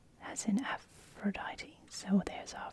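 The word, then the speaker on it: Ἀφροδίτη: D sound and E afrodite is the actual pronunciation in Greek so we've got e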